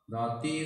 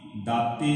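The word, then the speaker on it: ਦਾਤੀ: श्लोक महला पहला पहला आप शुद्ध उच्चारण समझ लीए दाती दाती नहीं उचारांगे ये बहुवचन है इसका उच्चारण आप करांगे दाती दाता।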